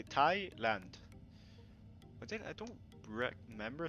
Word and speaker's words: Thailand: So it's the H is silent in Thailand. So you just say Thailand.